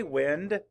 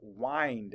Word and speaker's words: wind: excuse me wind say wind map The Sounds wind the other pronunciation is wind say wind let's map